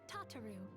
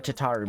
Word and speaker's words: Tataru: now they justce to tataro or I'm going to call her tataru because it's it's better tataro is a good name but tataru is how I'm used to pronouncing it um but in